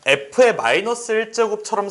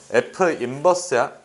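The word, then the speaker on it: f⁻¹: 그래서 자, f의 -1제곱처럼 생겼지만 -1제곱이라고 읽으면 약간 많이 덜 떨어져 보여요. 그래서 정확하게 읽어 줘야 돼. f의 뭐라고? 어, f 인버스야.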